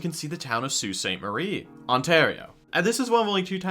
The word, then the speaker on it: Sault Ste. Marie: We went over to Sault Ste. Marie, which you don't know is spelled like this.